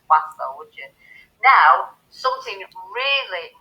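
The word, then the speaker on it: oiseaux: You pronounce bird in French as oiseau, and birds in French is oiseau. There's absolutely no difference in the way you say it.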